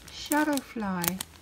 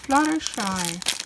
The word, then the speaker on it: Fluttershy: I have to be careful in pronouncing because Fluttershy, I always say Shutterfly. Fluttershy.